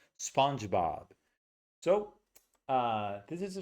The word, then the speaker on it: SpongeBob: Really big vowels. Okay. A a twice. The dog vowel twice. Spongebob.